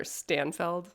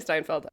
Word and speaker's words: Steinfeld: Um, I repeatedly mispronounced Haley Steinfeld's name. I kept calling her Stanfeld. Haley Stinfeld. Sorry, Haley Steinfeld.